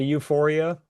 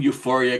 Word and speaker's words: UFOria: No, but and also how how are we all pronouncing this? I my gut feeling is to say Euphoria. I'm doing Euphoria because based on the closing credit song.